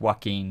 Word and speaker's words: Joaquin: be the Joker sound like Walking, but his name starts with a J? That is just the lovely English language. Yeah, I know what you mean. Like you could call him Joaquin, but it's pronounced Joaquin, you know.